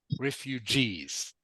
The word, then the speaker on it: refugees: uh refuges ah it's it's pronounced with a soft G soft G so it is refuges refugees uh refugees good that's